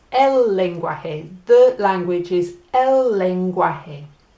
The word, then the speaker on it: lenguaje: And if you think about our word language, so lang becomes leng, gui becomes gua, and j becomes hey. Lenguaje. Language. Lenguaje. All right, and it's el lenguaje.